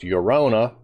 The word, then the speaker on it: Llorona: A game is based on famous Mexican folktale of La Llorona, pronounced Llorona.